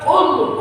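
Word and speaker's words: قُل: Kadang-kadang di masyarakat membedakan huruf qaf dengan kaf sama. Padahal kalau ketika kita membacanya berbeda, mengandung arti yang berbeda. Qaf, qul artinya katakan. Qul makanlah.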